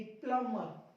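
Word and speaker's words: plumber: प्लम्बर भी silent हो जाएगा। और देखिए टी से पहले, ये रहा आपका टी, इससे पहले आया बी, कर दो चुप, लगा दो ताला।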